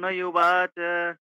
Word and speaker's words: উবাচ: আর কি সংস্কৃত আর উবাচ আরজুনাবাচ আর বটা মানে পরিষ্কার ব হবে না ওয়া হবে্যা অর্জুনচ আহ